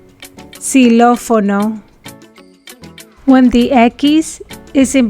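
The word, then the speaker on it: xilófono: woo egg kiss if a spanish word begins with a keys the ekkis is pronounced like an s just like in english si lo fono when the ekis is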